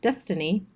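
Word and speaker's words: DSSTNE: the development of the DSS T and E pronounced destiny their sales have only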